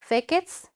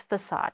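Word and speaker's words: façade: infrastructure it uh okay how do we pronounce these words fakeets maybe right you used to pronounce like that this is uh we we pronounce it as facade okay facade and the meaning is front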